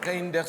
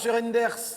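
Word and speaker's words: Reynders: Non, M. Didier Reinders. Ça se prononce comme ça s'écrit. Reinders.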